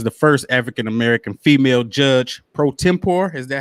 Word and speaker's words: pro tempore: to serve as the first african-american female judge pro tempore is that how you pronounce that yes for macomb city in the